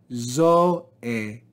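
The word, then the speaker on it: ζωή: We then have zoe, zoe. And notice that omega and eta do not form a diphthong, so this word is divided into two syllables.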